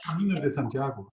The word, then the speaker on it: Camino de Santiago: Is that how you say it? Santiago de Camino, yeah. Del Camino. Camino de Santiago, the other way around. Camino de Santiago. That's it.